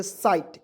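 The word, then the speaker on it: sight: एस आई जी एच टी इसे दोस्तों पढ़ेंगे साइट इसका उच्चारण स के रूप में और आईस जीएसटी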